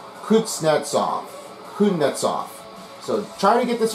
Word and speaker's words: Kuznetsov: Well, as you may have just heard, it's Kuznetsov.